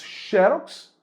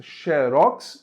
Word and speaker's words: xerox: opções ou você diz xerox e acentua ou você diz xerox e não acentua pera aí Thiago quer